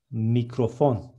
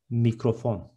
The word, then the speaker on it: mikrofon: Next one, microphone is mikrofon in Turkish. Instead of C, there is K, and it is mikrofon.